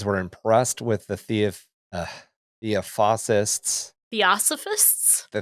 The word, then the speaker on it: Theosophists: Theosophists? The Theosophists championing of Indian religions. You have to put all the syllables in the word.